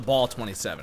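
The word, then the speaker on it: Bal-27: you guessed it the Bal 27 even though it's technically pronounced the ball 27 because Michael condre specifically stated it's called the ball that sounds [ __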